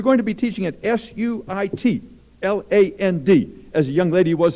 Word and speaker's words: Suitland: and if you're going to be teaching at s-u-i-t l-a-n-d as a young lady was a few years ago and told me mr zarin i'm going to sweet land elementary school i said dear we don't have